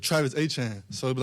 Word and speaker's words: Etienne: Growing up, it's Travis Etienne, so it'd be like Achane, and that's how you always said Travis Etienne.